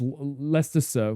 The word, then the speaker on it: Leicester: Uh Rutherford Ford's wait rather Ford Ruffton Shville is Shurville and Leicester is Lester Leester Leester rather Ford being Ruffton Ruffton Ruffton Ruffton don't hurt yourself.